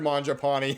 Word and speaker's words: Mangiapane: here on the channel and Andrew mapon his actual pronunciation of his name he will always be